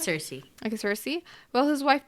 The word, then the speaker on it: Circe: I don't know how to pronounce Yeah, it's Circe.